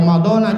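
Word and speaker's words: رمضانَ: sanati lillahi hai magazine Ini yang betul bacanya Ronaldo nih jadi bakal Romadhona jangan itu keliru kuatnya Romadhona emang ini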